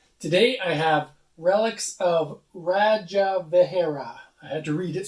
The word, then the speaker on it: Rajavihara: fun in five today i have relics of radja vegera i had to read it so i pronounce it right rajavahera this is a game that was brought to